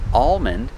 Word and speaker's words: almond: words like calm and almond these words have alm but the l is silent or you don't hear it like i said the